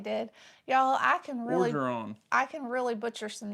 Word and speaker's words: Orgeron: Miss Lori said sorry for Tennessee loss, as well as Coach Oregon. Did I say that right? I feel like I just pronounced that wrong. Probably did. I probably did. Y'all, I can really Orgeron.